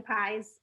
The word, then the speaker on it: Pies: just google me pies spelled pies i always say it's spelled like pies like pumpkin pies it's pronounced like peas like peas and carrots that's awesome i like